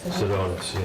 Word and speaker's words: Sedonis: That's how you pronounce it? Sedonis, yes.